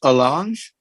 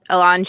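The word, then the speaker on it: allonge: phrase is enter into i'm assuming it's it's pronounced alange a-l-l-o-n-g-e yes board member gonzales this is marissa schaefer i can answer that elange is a legal term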